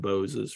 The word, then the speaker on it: Boz: instead of Boz, because we know it comes from Boses, from Moses. So I feel like I'm doing the Singing in the Rain song. If Moses supposes, but it is Bose that he presents himself to his public.